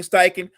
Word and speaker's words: Steichen: Stretchen. Which one? He was with the Eagles. He coached up Jalen Hurts. Shane Steichen.